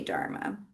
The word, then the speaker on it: Dharma: Like in Pali, you would say Dhamma, and in Sanskrit, you would say Dharma.